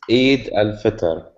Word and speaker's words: Eid al-Fitr: It's Eid al-Fitr. Eid al-Fitr.